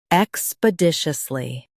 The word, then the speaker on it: expeditiously: Stress dish and keep us light.